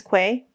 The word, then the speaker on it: Quay: like a lie um boy Canadians pronounce as key uh like a key Queen's Queen's K Queen's Quay some of these seem